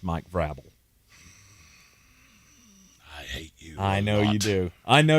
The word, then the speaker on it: Vrabel: Vrabel. I just put it up on the screen. That's how it's spelled. You want me to say it another way? It's a hard another A. way. Hard A.